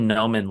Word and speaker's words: Noman: It's actually Noman, like Norman Noman.